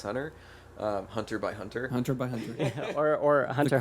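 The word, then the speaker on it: Hunter × Hunter: that the pronunciation was Hunter Hunter Hunter x Hunter silent yeah the x is silent it's Hunter x Hunter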